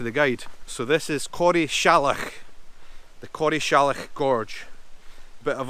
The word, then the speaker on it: Corrieshalloch: I only really found out how to pronounce it thanks to the guide. So this is Corrieshalloch, the Corrieshalloch Gorge.